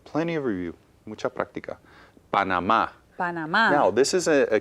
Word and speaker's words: Panamá: So I think we should put an accent on that last syllable on the A. Panamá.